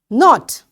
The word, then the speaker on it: knot: Knot, knot, you know, when you tie something, knot. So this K is again silent.